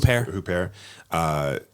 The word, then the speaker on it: Huppert: How do you pronounce her last name? Huppert.